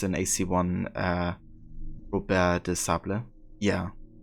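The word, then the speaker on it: Robert de Sablé: You love how his name is pronounced in AC1 Robert de Sable? Yeah. That would be the, I guess, proper French pronunciation or something.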